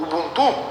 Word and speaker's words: Ubuntu: E aí surgiu uma outra grande distribuição, o Ubuntu, ou Ubuntu, pronúncia do jeito que você quiser.